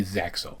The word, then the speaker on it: ZEXAL: the fans, it's probably ZeXal. Pronounced Zeal in the Japanese version, and I have no idea why they changed the pronunciation.